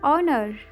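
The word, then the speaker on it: honour: हम ऑनर ऑनर इज्जत इसमें एच साइलेंट हो जाएगा तो हम बोलेंगे ऑनर अदा करें पे अदा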